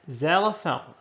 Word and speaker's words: xylophone: And next, xylophone. A xylophone because Z is a consonant sound. Though the word starts with an X, it's pronounced Z.